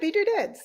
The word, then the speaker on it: Beedoodads: And yeah, Beedoodads, like beads, making doodads out of beads.